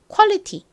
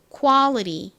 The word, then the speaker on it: quality: 먼저 따라해 볼게요 품질 Quality qu 좋습니다 이번엔 미국식 발음으로 해 볼게요는 아 소리 나고 그리고 티는 리처럼 발음된다고 말씀드렸죠 천천히 듣고 따라해 보세요 Quality 한 번 더 해